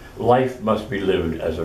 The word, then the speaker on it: li: L-I is actually pronounced Li.